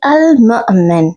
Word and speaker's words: Al-Mu'min: Okay, so say Al-Mu'min. There is a little Hamza, tiny Hamza on the wow. Okay, so you have to break your voice in it, like Al-Mu'min.